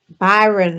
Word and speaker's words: Bayard: You have to tell me how to pronounce his name, Bayard or Bayard Rustin. uh, Byron, I think Byron Yes.